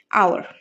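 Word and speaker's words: hour: এইচটা consonant sound, কিন্তু এইচটা তো কিছু কিছু ওয়ার্ডে সাইলেন্ট হয়ে যায়, সাইলেন্ট হয়ে যায়। তার পাশাপাশি আমরা যখন ওই পার্টিকুলার ওয়ার্ডটা উচ্চারণ করি, প্রনাউন্স করি, তখন এটা ভাওয়াল সাউন্ড দিয়ে স্টার্ট হয়, আর ভাওয়াল সাউন্ড দিয়ে স্টার্ট হলে অবভিয়াসলি আমরা এন ইউজ করব।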